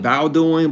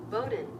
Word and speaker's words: Bowdoin: I would call it bowing because a bow wow. But some tell me bowing is not how you say it.